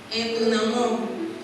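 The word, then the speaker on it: ἐνδυναμόω: La palabra griega que se usa allí se pronuncia en dunamón, que significa dar poder o fortalecer.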